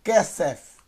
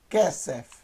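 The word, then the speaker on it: כסף: Então eu tenho kesef, kesef, K mais E, primeira sílaba, samer mais E mais F, kesef, ok?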